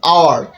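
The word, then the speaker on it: hour: যেমন আওয়ার, এইচ ও ইউ আর, আওয়ার, আওয়ার মানে হচ্ছে ঘন্টা, এখানে হওয়ার কথা ছিল হাওয়ার, কিন্তু হাওয়ার তো উচ্চারণ না, উচ্চারণ হচ্ছে আওয়ার, এইচ ও ইউ আর, আওয়ার।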